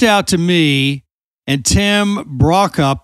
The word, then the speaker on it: Brokopp: to me, and Tim Brokopp. That's the way we say it, Tim, right? You got it.